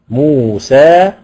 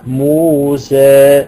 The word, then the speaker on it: موسى: المسافه فنحن نقرا بالاماله يعني مثلا كلمه موسى ادي الفتحه اهو موسى لما هنين هنقول ايه موسي موسي موسي س انما لو انا قراتها